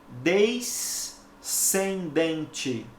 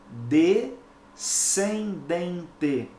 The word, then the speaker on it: descendente: som o fonema e eu não posso pronunciar desde Sem Dente porque porque s&c juntos só reproduzem um som Então eu tenho que pronunciar corretamente de Sem Dente compreendeu ocorre algo semelhante